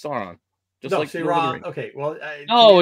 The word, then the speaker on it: Sauron: I name incorrectly uh sain sain uh sron however you want to pronounce it s San saon or san however you kind cool like but that no it's Sauron just okay well no